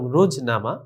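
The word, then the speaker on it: روزنامہ: রোজনামা শেষে দেখো মিম হে হে রয়েছে কিন্তু উচ্চারণে আসেনি বরং রোজনামা রোজনামা হবে না তারপরে গাফ হে গা এটা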